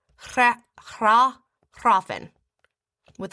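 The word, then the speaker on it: hræfn: And then so it's hrah hrah hrahfen. With a little bit of a trill r, again. You know, and and the f is supposed to be kind of like a v. Hrahfen.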